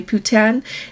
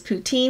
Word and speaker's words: poutine: Tails place where I got my putan as they called it I asked for it as poutine because that's what I've heard but she said that's how they say it there but anyway that um